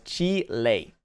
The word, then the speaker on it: Chile: yeah uh you're forgetting that Chile is not English-speaking country it's primary language is Spanish and under the rules of Spanish pronunciation the name of the country is correctly said as Chile hey uh nope you're